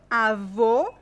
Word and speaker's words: avô: lá vamos lá a avô avô o qu avó avô Uh isso é difícil essa diferença não existe no espanhol esse é mais fechado o o ok e esse é mais aberto ó Ok aô e